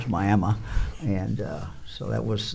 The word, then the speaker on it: Miami: we we had uh we went into what we would call Miami uh Oklahoma and my Mi I and uh the folks there very quickly told us that we were mispronouncing it it was myma and uh so that